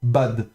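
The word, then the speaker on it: בַּד: Alors pour vous rappel aussi de nouveau à l'ancienne le camet se prononçait plutôt entre le A et le O pour les puristes qui veulent prononcer plus à l'ancienne. Donc c'est plutôt b en fait si on voulait prononcer ça vraiment comme comme à l'ancienne. Mais bon nous en hébreu moderne on prononcera ça simplement bad.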